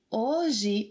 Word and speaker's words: Hoje: Different from English, the letter H, H, is not pronounced when it's at the beginning of a word. For example, hotel. Repita. Hotel. Hospital. Hospital. Horas. Horas. Hambúrguer. Hambúrguer. História. História. Hoje. Hoje. Hóspede.